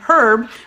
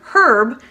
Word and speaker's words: herb: for you in fact it would be really weird here if i started going around and saying herb which is actually the name of here when you hear the word herb that is a person that's in reference to a